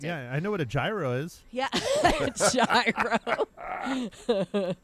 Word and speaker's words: gyro: I know what a gyro is yeah gyro it's pronounced Euro but yeah those are